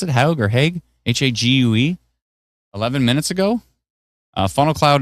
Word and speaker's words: Hague: How you pronounce it? Hague or Hague? Hague.